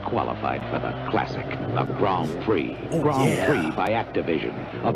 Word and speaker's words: Grand Prix: this is Grand Prix he was pronouncing it all wrong isn't it Grand Prix for the Atari BCS